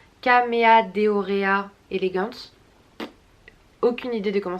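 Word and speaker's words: Chamaedorea: Alors je suppose que ça se prononce K, même si c'est H. Caméadeorea elegans.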